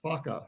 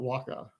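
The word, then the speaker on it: whaka: it doesn't end one wh is pronounced as an F not as a w or wh That's fakka not Waka many of the names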